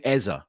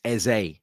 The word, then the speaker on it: Eze: I had about 5 messages yesterday from listeners going, stop saying Eze. It's Eze. I understand, right, that the common way of pronouncing that name is Eze.